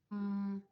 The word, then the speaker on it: mine: He is mine. Mine. Mine is a word that follows that follows the silent e rule.